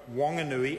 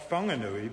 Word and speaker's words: Whanganui: the minister acknowledged that both wanganui and wanganui were acceptable uh forms of that word but not whanganui because that that is pronouncing the h in a way that locally we don't do as evidenced by